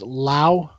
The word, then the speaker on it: Lau: This is Brian, and I don't want to say this wrong, but is your last name pronounced Lau?